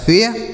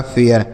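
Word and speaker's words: fair: लेकिन अगर AI के साथ R है तो A का उच्चारण, जैसे F से हो गया फ, AI के बाद R है तो A का उच्चारण, यह लिखा है फेयर, R से र लिखा है फेयर।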